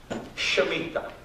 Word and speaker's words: Shemitah: It's called Shemitah. Shemitah, she, like she, me, ta, okay?